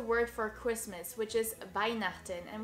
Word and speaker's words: Weihnachten: And of course the word for Christmas, which is Weihnachten, and which can be a bit tricky because of its CH sound, which is produced in the back of your throat. Repeat after me. Weihnachten. Weihnachten.